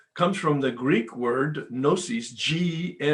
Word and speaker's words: gnosis: And so doubt is what Bill wrote, chapter 4, we agnostics, comes from the Greek word gnosis, the G is silent, Gnosis, meaning knowledge.